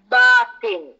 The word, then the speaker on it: Batin: is Our obligation that we should pronounce this word uh correctly so the word is bathing is a quranic word